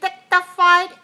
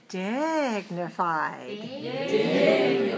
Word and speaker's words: dignified: If you say dignified, every syllable is the same, then it doesn't sound like very good rhythm for me in English. So I want to say dignified.